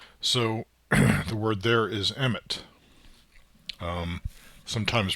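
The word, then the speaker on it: אמת: So the word there is emit. um sometimes pronounced MS uh if you're I guess uh uh pronouncing uh Ashkanazi uh Hebrew.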